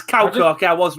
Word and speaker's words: Kauko: Or Karko, I don't know how you pronounce it. It's Kauko, okay, I was right.